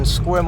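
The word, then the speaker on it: Sequim: That's spelled D R Y K E and uh the city Squim. S E Q U I M.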